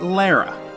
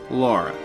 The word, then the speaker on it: Lara: up before I begin it's Laura Croft not Lara even though it's pronounced both ways in this game some fanboys get angry when you say Laura but that's the way it's supposed to be